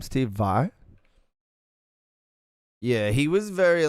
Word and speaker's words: Steve Vai: Steve Vai?